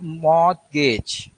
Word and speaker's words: mortgage: Second point is mortgage. Mortgage. So spelling is mortgage, mortgage. But here T is silent.